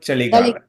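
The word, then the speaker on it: ಚಳಿಗಾಲ: Winter is called chaligala. Chaligala. Chaligala. It's a CA says cha.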